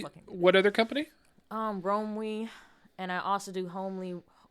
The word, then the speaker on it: Romwe: So it's Romwe? So it's Romwe. Spell that.